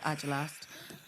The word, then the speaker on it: Agelast: Agelast or Agelast. It's Agelast.